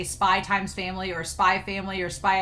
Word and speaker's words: Spy x Family: you say hunter hunter so you say spy family and x is silent and i was like